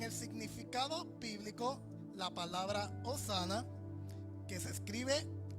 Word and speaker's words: hosana: Para aquellos que les gusta anotar en el significado bíblico, la palabra hosana es una exclamación de júbilo que significa sálvanos te rogamos.